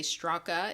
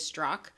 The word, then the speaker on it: Straka: strzok by the way the a in his name is silent uh i hear a lot of people say straca it is strzok may find himself in